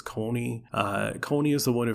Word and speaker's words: Connie: And then another one I pronounced wrong, according to the anime, is I call him Connie, but apparently it's Coney.